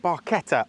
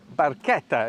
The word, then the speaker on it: barchetta: Jack and this is a Fiat barketta or barchetta if you're pronouncing it in Italian really excited to do